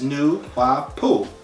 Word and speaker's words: Nuwaupu: will speak on it it's pronounced as new poop or new wooh Pooh it stands for right